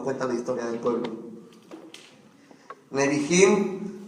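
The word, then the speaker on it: Nebihim: la historia del pueblo nebim eso los profetas se escribe n e b I h i m neim nim y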